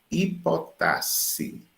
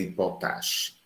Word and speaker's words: hipotaxe: Esse fenômeno de subordinação é também chamado hipotasse. Aí tem hipotasse com X, mas você pronuncia como se fosse dois S. Hipotasse, tá certo? Não vai dizer hipotaxe, hipotasse, certo?